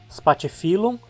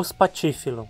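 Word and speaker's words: Spathiphyllum: esse nome espatifilo ou espatifilo nós se separamos as sílabas termos parte seu nome assim como no português com dois r e dois s no latim também duas consoantes iguais juntas sempre ficam em sílabas separadas assim a penúltima sílaba é fio é a terminar em consoante portanto a palavra paroxítona parte filão e agora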